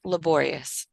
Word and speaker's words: laborious: at a good um it's laborious laborious I know it's like laor but when you change it we use the controlled R labor because it's in the middle of it of the the syllables so if the o r ends up being in the middle you're going to have to change the sound to control R makes sense um anytime you